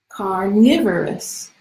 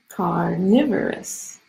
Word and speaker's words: carnivorous: pronounce that word carnivorous it has four syllables con me born and and the at center carnivorous carnivorous okay carnivorous means a